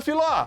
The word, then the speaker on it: Filó: Ô, dona Filó! Filó. Filó. Terminou em ló. Última sílaba é forte.